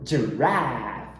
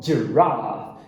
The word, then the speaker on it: giraffe: Então, a primeira sílaba No inglês britânico, eles vão falar com a, rough. Já no americano, eles usam o ash, raff. Então vamos ver a diferença? Americano, giraffe. Britânico, giraffe. De novo, americano, giraffe.